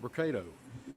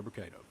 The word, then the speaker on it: Brocato: the podium today will be Hoover mayor Frank brocato spelled b-r-o-c-a-t-o and Hoover Police Chief Nick durzis spelled d-e-r-z-i-s you may also hear from Lieutenant